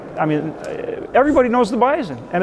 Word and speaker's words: Bison: It's B I S O N. What? Why are you saying Bisonen?" You know, I said, "Because it's Bison Nation. We pronounce the S with a Z."